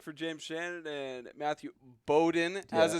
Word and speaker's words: Bowden: That'll wrap it up for this week for James Shannon and Matthew Bowden, as Yeah. it's properly pronounced.